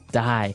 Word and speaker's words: dye: you're dying it okay dye so it's pronounced exactly the same way as you know to die to not live anymore